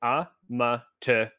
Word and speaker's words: Amaterasu: You can break it down syllable by syllable. Amaterasu.